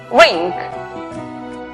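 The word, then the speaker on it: wring: La palabra torcer, que se escribe la W antes de R al comienzo, es muda. Por lo tanto, la pronunciación es rink.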